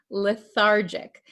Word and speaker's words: lethargic: pronounce this word lethargic remember this is a j sound lethargic Okay the patient feels weak